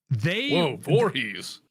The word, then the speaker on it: Voorhees: The director's name, the film's writer and director, is a director named, and I might be mispronouncing this, but Cuarte Voorhees. Voorhees. Like Jason Voorhees.